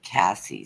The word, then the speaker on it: Casey: a family name and they spell it like Casey but they pronounce it Cassie so I always pronounce